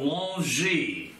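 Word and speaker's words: Longwy: I have the picture that's called Longy. L-O-N-G-Y. The French spell it several ways. L-O-N-G-W-Y.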